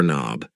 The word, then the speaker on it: knob: here is a door knob yes the K in knob is silent and these things here